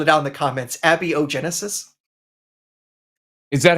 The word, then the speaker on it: abiogenesis: nicely phonetically spelled it out in the comments Abby Genesis is that how it's supposed to be said I've I've been saying a biogenesis this whole time I'm I am 99% sure a biogenesis is the best pronunciation and I allowed my tongue to not